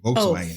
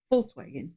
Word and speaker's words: Volkswagen: the word Welt, and they pronounce the V's with an F sound, like in the word Vermögen, Zuordnung, Zuständigkeit zu betrachten. Yeah, like Volkswagen. Like that's how they say Volkswagen. Oh, Volkswagen.